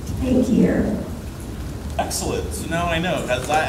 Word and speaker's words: Takier: So I guess when his dad came here about 7 or 8 years old, took the I-A-N off, so his name is Takier.